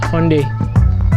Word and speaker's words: Hyundai: what I owned I like Nigerian skates it's pronounced Hyundai the Hyundai Elantra on today's episode I'm going